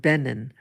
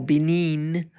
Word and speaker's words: Benin: there, like what Benin, the country of Benin, or Benin, different pronunciations, what that country is doing.